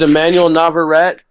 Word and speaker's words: Emmanuel Navarrete: All right, I got the pronunciations, Mike. All right. It's Emmanuel Navarrete versus Elorde.